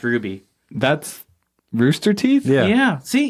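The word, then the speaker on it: RWBY: red white black yeah it's art are wyb oh and pronounced ruby that's roosterteeth yeah yeah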